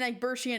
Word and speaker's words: Egbertian: The T in Egbertian is soft like shh.